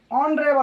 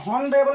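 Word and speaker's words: honorable: एन ऑनरेबल मैन, ऑनरेबल मैन, यहाँ पर हॉनरेबल नहीं पढ़ेंगे क्योंकि ये गलत माना जाएगा।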